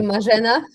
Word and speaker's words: Marzena: Marzena, am I pronouncing your name correctly? No, it's actually Margina.